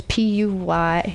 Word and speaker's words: Puyallup: Puyallup. And if you could pronounce it, you probably know somebody there. But if you don't, it's Puyullup.